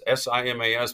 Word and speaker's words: Simas: It's Simas, but pronounced Seamus Locucius.